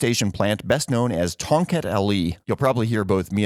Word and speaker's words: Tongkat Ali: him don't trust me it's actually spelled almost just like it sounds t o n g k a t